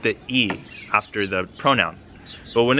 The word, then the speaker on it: i: So the predicate marker is pronounced E. It's the letter I, but it's pronounced E.